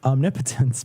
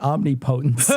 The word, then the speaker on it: omnipotence: the thing was this power and it's it's pronounced omnipotence but we were kids who pronounced it omnipotence i have the most all the potency omnipotence